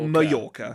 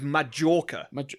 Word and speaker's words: Mallorca: It's pronounced in Spanish. It's Mallorca. I thought it was Majorca.